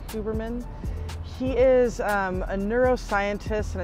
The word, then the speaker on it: Huberman: you have heard of Andrew uberman I think is the way that you pronounce his name or huberman he is a neuroscientist